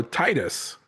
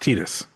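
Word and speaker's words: Tidus: So, Titus Tetus is pronounced Tetus.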